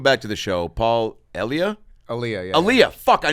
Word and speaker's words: Elia: Elia.